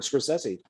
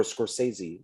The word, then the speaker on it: Scorsese: like woody allen and uh this is martin scorsese or scorsese depending on how you wish to pronounce it but it's new york new york